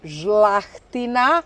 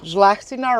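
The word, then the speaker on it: Žlahtina: Our main and most important variety is Zlahtina. Zlahtina? Zlahtina right or wine queen of Quarner.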